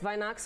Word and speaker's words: Weihnachts: Weihnachts weekend, did I pronounce that correctly? Yes, Weihnachts weekend. Weihnachts. It's kind of a Germany word.